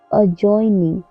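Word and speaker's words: adjoining: अजॉइनिंग, अजॉइनिंग में भी D silent है।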